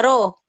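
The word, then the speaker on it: ρ: jenis itu satuannya adalah ro ini dibacanya ro ro massa jenis dan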